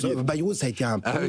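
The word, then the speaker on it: Bayrou: Vous aviez euh Baou se prononce Bairou ça a été un premier ministre fugasce à peu près à l'époque de Crasus je crois.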